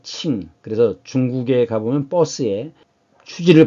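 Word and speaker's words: 請: 이것이 이제 중국 발음은 칭인데 칭.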